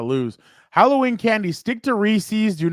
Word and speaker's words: Reese's: First of all, is it Reese's or Recess or what is it? Reese's peanut butter cup? I don't know, but I don't know if you're saying it right. Reese's Pieces. There you go. Reese's.